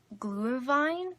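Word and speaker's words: Glühwein: pronounce this wine but i think its gluhwein glue and wine I believe it's German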